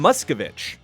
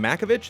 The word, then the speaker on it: Muscovich: It's Sam Muscovich. I said Sam Makovich. It's Muscovich. I don't know if I've ever even called him Sam.